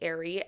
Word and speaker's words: Arie: Her name's Natalie Airy, at natalie.airy. And Airy is spelled ARIE.